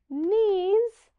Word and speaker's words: knees: one we're talking about then I have k n which just makes the n Sound the K doesn't make